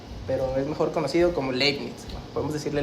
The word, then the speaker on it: Leibniz: Gottfried Wilhelm Leibniz, pero es mejor conocido como Leibniz, ¿no? Podemos decirle Leibniz.